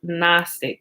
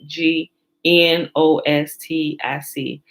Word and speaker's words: gnostic: for the greek word gnostic which is remember the g silent g n o s t i c it really stands for